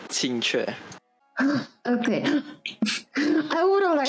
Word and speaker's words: Qingque: I believe her name is pronounced Chinchue. Almost. Oh, but how do you say? It's Qingque.